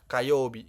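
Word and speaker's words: 火曜日: Sedangkan yang bawah ini dibacanya adalah kayobi gitu.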